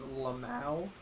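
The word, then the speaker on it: LMAO: should also clarify uh I am on record as pronouncing L Mao as lamu lamu also say it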